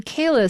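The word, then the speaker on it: Caelus: an official agreement on whether you pronounce c a e as k or as c and so bruce will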